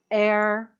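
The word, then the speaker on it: heir: Remember, there are very few words in English where you have an H that is silent. Our, air, honor, those are the words that have a silent H.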